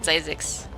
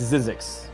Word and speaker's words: Zzyzx: I always pronounce it Zizix.